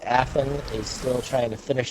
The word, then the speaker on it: Afin: So at this point, Affin, you said it right that time. Affin, is it? You said it was Shou? Show's good. Yeah. Show.